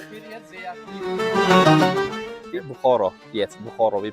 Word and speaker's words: Bukhara: Yes, Bukhara we pronounce.